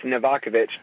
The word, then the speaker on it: Novakovich: or was that correct you got it phonetically it's novakovich but uh you you certainly